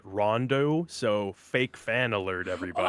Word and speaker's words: Ronde: game ever made perhaps Ronde oh man well first of all if you look at the back of the box you'll find that you're actually supposed to pronounce it Rondo so fake fan alert